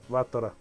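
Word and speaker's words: Battler: Se pronuncia Batra.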